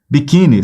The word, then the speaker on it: biquíni: aqui ó ó biquini biquíni separa sílabas biquini sílaba forte chama a palavra biquini op Opa aqui se prolongou então a paroxitona terminada em I biquíni é acentuado beleza biquíni é acentuada